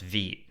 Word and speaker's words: Vite: with Vite it's pronounced V and in this video I'm going to show you how to use react with vit which is a French word for fast I don't get it